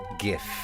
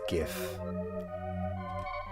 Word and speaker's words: GIF: I'm going with GIF. But a problem with that is that the creator of the format has said that it's pronounced like a soft G.